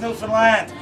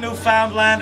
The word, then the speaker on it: Newfoundland: a black horse is a beer and it's pronounced newfoundland not newfoundland or new finland northern is the oldest settlement in north america